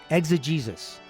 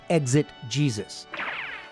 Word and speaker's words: exegesis: For example, exegesis. I hope I'm putting the inflection on the right syllable. Exegesis, not exit Jesus.